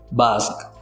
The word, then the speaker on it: Basque: बास्क, बास्क, दोनों words के pronunciation same है।